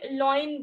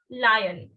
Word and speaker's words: lion: इसको बहुत सारे बच्चे loin बोलते हैं. Loin. Loin is wrong. Okay? The correct pronunciation is lion.